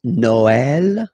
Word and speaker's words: Noël: The last one, tréma, well, basically it's quite rare, and the tricky thing is that in some cases you will have to pronounce it like eh, okay? Like, for instance, Noël, okay?